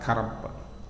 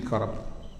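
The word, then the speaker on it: كرب: Orang yang sedang mengalami kedukaan yang mendalam, berarti ketika itu dia sedang dikarab, fil karab. Kaf, ra, ba, karab. Fil karab.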